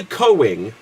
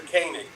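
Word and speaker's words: Koenig: inalienable and the the idea of it Walter coing who played can anyone tell me one after the coig or whatever it's pronounced right played uh check off on the original Star Trek oh Walter kanig kanig there you go right so he wrote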